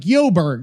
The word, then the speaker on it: Joburg: Okay, Johannesburg, or something like Joburg, like Joburg, Johannesburg. If Joburg, if you wait locally, they just call it Joburg.